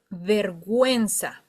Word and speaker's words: vergüenza: But it's, if you see two dots over the U, it says, hey, you have to pronounce this U. Don't forget about me.